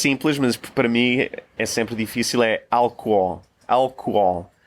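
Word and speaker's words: álcool: Because in English it has an H, which does not exist in the Portuguese version, and it's hard to pronounce. It has two Os, doesn't it? The second one has an accent... It's a little weird having those two different sounding Os without a consonant between them.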